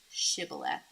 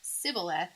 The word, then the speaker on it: Shibboleth: If he answered no, they told him, please say Shibboleth. If he said Sibboleth, because he could not pronounce it correctly, they seized him and executed him at the fords of the Jordan.